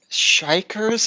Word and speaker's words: xikers: to 80s um and they're called shikers I guess it's spelled with an X for hikers I um and the